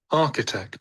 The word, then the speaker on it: architect: to confirm okay th see this is architect architect so there are other words also with ch in them which pronounce which are AR okay we we say archives okay archive so archive architect CH is the K over here okay that is K